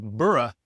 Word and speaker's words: burrow: And speaking of burrow, you can see further down the list, in some regions it's pronounced like burra.